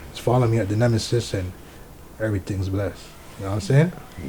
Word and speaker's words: Knemesis: IG, Twitter, Snapchat at the Knemesis, and there's a silent K on the Knemesis, so it's THEK Knemesis.